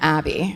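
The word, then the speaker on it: Aby: It's A-B-Y, so I'm pronouncing that Abby. It might be A-B, but...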